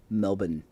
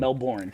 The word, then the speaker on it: Melbourne: Somebody on Twitter caught the fact that I almost mispronounced Melbourne. I said Melbourne. But that's Ooh, okay that's a because you're mistake. American. Melbourne.